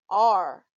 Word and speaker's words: are: reading the word are remember to pronounce it as r the letters a r